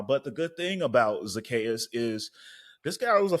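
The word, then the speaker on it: Zaccheaus: I heard them pronounce it Zacchaeus. on TV. Yeah, Yeah. Zacchaeus.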